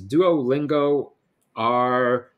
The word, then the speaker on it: Duolingo: So Badger's reaction was Duolingo R, and it rhymes with a duck.